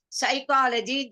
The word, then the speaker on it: psychology: Psychology, they say, and PSYCHO, P is silent.